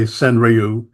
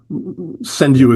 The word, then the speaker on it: senryu: but you know it's a lot of people in English in the haiku community say senriu uh senu is the you know the sort of Japanese pronunciation as as a the English version of the Japanese pronunciation.